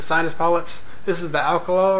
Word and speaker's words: Alkalol: This is the Alkalol right here. It's not alcohol, it's spelled Alkalol, kind of like Alka-Seltzer.